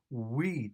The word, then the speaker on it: we: در اینجا یک نکته را توجه کنید که وقتی که ما we تلفظ میکنیم، آوای و در این کلمه مثل آوای و در زبان تاجیکی نیست، بلکه و است. و یعنی ما لبانمان را بیرون کمی میاریم و مثل او تلفظ میکنیم و را.